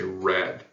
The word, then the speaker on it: read: however here's the catch this word in the past tense is pronounced differently even though it's spelled the same so we would say red um so if I'm